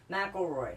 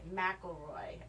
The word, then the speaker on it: McElroy: McElroy. McElroy.